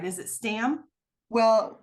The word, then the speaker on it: Stamm: name right is it Stam well it's really pronounced Tom because it's a German name okay but most people